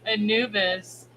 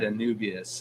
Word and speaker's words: Anubis: Julian said if we're going to start pointing things out, Anubis is a Egyptian I know I've god. said Anubius at least Anubius once is before the that.